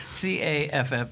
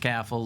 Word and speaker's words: Caffall: C A F F A L L. Pronounced caffel. Looks like a fall, but it's pronounced caff.